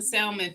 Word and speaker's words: salmon: me yeah i said i pronounced the l in salmon for a long time